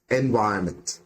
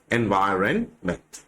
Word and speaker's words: environment: Which is the syllable stressed in the word environment? അപ്പോൾ ഇവിടെ ഏത് സിലബിളിനാണ് സ്ട്രെസ് വരുന്നത് എന്നുള്ളതാണ് ചോദ്യം. And ഇതിന്റെ ആൻസർ is the second.